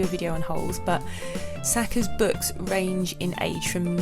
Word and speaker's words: Sachar: Even there's a link to see how to pronounce his name, and it is Sachar, rhymes with cracker.